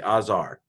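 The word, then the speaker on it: עזר: I'm going to pronounce the Zayin like a Z, Azar.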